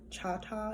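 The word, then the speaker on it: Chahta: heard of that um their native language is cha-cha is spelled c-h-a-h-t-a and the um most of the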